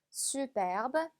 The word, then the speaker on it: superbe: superbe, superbe. 자, 이 단어 저번에도 한번 나왔긴 했었죠. 그죠? 발음이 중간에 Ü 발음에 유의하면서 발음해 주시면 됩니다.